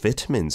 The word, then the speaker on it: vitamin: So Koreans often ask me, they said, oh, I'm pronouncing vitamin in a Korean way. And I'm like, no, you're doing it in a British way.